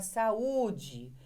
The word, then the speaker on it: saúde: Agora, acontece que em algumas palavras, esse encontro vocálico AU tem outra pronúncia, que é a pronúncia da saúde. Então, veja que a diferença que aconteceu aqui é que esse U é forte.